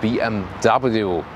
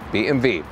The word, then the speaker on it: BMW: It's also about BMW or BMV as in the German original pronunciation.